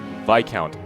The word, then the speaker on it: viscount: God, how you pronounce the word? Viscount.